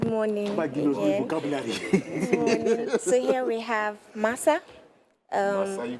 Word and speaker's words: masa: So it's actually called masa. But I'm sure maybe pronunciation when it comes here and then it's but actually M-A-S-A, so it's masa.